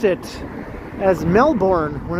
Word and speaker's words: Melbourne: I remember watching a video where it was explained that a lot of people mispronounce it as Melbourne when it's actually more like Melbourne, right? They live in Melbourne.